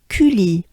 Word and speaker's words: Cully: U is basically your mouth is pretty closed up. It's a small opening of your mouth and your jaws drop. So it goes like U. I know it's a very foreign sound. U. And then it goes into the banana smile, the E. The letter Y in French is pronounced E.